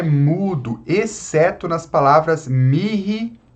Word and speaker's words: mihi: Bom, o H, meus caros, o H é mudo, exceto nas palavras mihi e nihil. E veja, mihi e nihil também nós podemos pronunciar como um K. Então, miki ou níquel, ok?